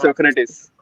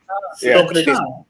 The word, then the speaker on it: Socrates: इट्स सोक्रेटिस। I'll give it to you. Socrates.